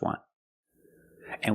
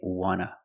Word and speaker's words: want to: And we see the T in want is an NT. So we don't pronounce the T and we say wanna, wanna. I just want to eat. Want to or want to, you can pronounce it wanta or wanna. Both pronunciations are correct.